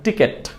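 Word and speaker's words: ticket: কিন্তু সেটা ভুল উচ্চারণ আমরা কখনোই এটাকে আর টিকেট বলবো না যদি টিকেট বলে থাকেন আপনার উচ্চারণ হবে কিন্তু ভুল হবে সো এটাকে আমরা কিভাবে উচ্চারণ করব এটাকে আমরা উচ্চারণ করব টিকিট বলে এটা হচ্ছে টিকিট নট টিকেট আমরা একটু আবার দেখে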